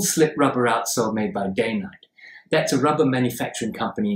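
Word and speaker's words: Dainite: Oh, incidentally, it's pronounced Day Night, not Die Night. That's because the company that made it used to run their mills, factories, day and night.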